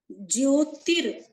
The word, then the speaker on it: ज्योतिर: ज्योतिर, ज्योतिर, जो य के ऊपर रा है वो यहाँ पर पहले बोला जाएगा।